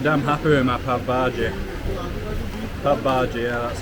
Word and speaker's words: pav bhaji: say I'm pretty damn happy with my papaji papaji yeah that's how they say it the only